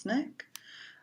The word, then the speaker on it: SNCC: Student Nonviolent Coordinating Committee SNCC pronounced snick the important rule that